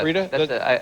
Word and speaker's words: Frida: Am I pronouncing that correctly? Yeah, Frida?